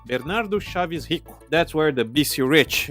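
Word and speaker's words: Bernardo Chávez Rico: by the man himself Bernardo Chavez hio or should I say his name correctly Bernardo shavis hi that's where the BC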